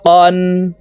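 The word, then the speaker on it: قًا: আলিফ দুই জবর ফান কফ আলিফ দুই জবর কন কাফ আলিফ দুই জবর কান প্রিয় দর্শক কফ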